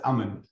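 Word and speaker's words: أمان: you know iman imam comes from the word root word hamza meme noon pronounced as aman and aman one of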